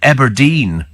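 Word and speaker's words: Aberdeen: them actually at all abedine is known locally as Aberdine has has your Scotty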